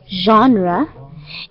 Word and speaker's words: genre: Juliana, please do be careful on how we pronounce genre.